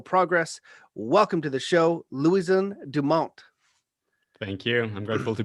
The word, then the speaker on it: Louison Dumont: wisdom and technological progress welcome to the show louisiana dumont thank you i'm grateful to be here i tried my best to uh pronounce it with the french one how do